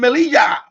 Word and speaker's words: Melilla: Okay, I got my contact with Ceuta and Melilla. Wait, well, that's how you pronounce it, by the way.